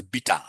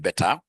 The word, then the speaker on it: beta: Or I mean, we pronounce it as bitter, not better.